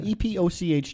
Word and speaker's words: epoch: epic right i know how do you spell that epic is e-p-i-c so e-p-o-c-h to me is epic right i get i get you epoch um but listen republican